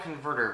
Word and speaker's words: Convertr: a little app called converter now it's called converter but it's not spelled correctly i'm going to have to read it off here it's spelled c-o-n-v-e-r-t-r so they leave out the second e converter uh now what